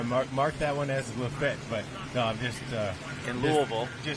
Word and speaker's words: Lafayette: There's there's one that uh not lefet. They call it Lefet.